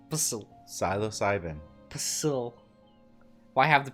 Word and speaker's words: psilocybin: You don't pronounce the P. Psilocybin.